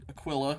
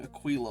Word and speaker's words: Aquila: Uh, so for those who have not been with us the last two episodes, we are Nina Aquilla, who I've been pronouncing Aquila the whole time.